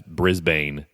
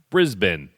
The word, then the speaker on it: Brisbane: So recently I was talking about Toughest Mudder Australia, and I referred to the city near the venue as Brisbane. I had 2 people correct me that it's actually pronounced Brisbane. So I apologized last episode and got it right.